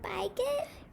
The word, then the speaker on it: bigot: And do you guys remember bygood? Yeah, I remember the picture of an open-minded person and a closed-minded person, and the closed-minded person is a bigot. Correct. Bigot? How is it pronounced? Bygood.